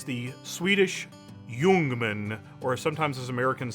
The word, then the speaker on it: Ljungman: favorite military surplus rifle ever it's the Swedish Jungman or sometimes as Americans say we say the élysée doom and so you'll hear people say both Luman or human but in the Swedish I've heard it pronounced human and this is a really cool gun that